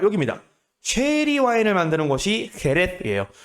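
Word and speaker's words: Jerez: 쉐리 와인을 만드는 곳이 헤레스예요. 원래 스페인어로 헤레스라고 불렀고요. 이 헤레스를 영어식으로 발음한 게 쉐리입니다.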